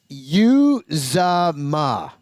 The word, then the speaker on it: Uzomah: But, it's Uzomah.